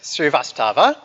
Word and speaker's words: Srivastava: Srivastava.